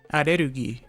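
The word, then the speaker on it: アレルギー: So allergy is arerugi and energy is energy.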